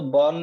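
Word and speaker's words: Bourne: उस बॉर्न again shell मतलब, बॉर्न मतलब ये तो उसका सरनेम है, लेकिन बॉर्न को उसका प्रोनाउंसिएशन बॉर्न है ना, BORN जैसा, बॉर्न अगेन शेल, वापस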